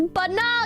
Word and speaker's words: banal: It's pronounced. It's banal, you green.